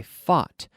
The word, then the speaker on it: fought: So we have to train our brains to ignore all these letters and say it's just ought.